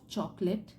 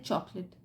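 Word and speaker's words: chocolate: ईट अ बॉक्स ऑफ चॉकलेट चॉकलेट की spelling भी देख लीजिए चॉकलेट चोको बट इसको हम बोलते हैं चॉकलेट along a child to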